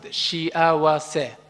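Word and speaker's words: 幸せ: Let's pronounce it, shiawase.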